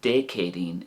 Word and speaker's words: Dé Céadaoin: But the other way, de Chéadín, is more, probably simpler, but more harder, like a K sound in English, de Chéadín.